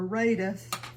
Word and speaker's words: Rada: I chopped it with my with my Rada or Raida is the way it's pronounced with my Raa um chopper.